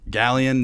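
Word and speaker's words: Galion: Galleon native. That's how you pronounce it, correct? Mm-hmm.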